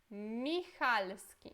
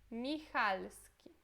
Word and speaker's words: Michalski: Michalski. Esse CH tem som de R, okay? Como se fosse dois R. Michalski.